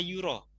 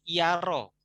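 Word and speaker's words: يُرى: Ya, pendapat yang sangat dikenal itu dibaca ya-nya didomahkan. La yuro membacanya. Bukan yaro.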